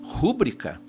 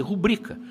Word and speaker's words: rubrica: Você sabe, quem diz rúbrica está cometendo um erro de prosódia. Ele deveria dizer rubrica.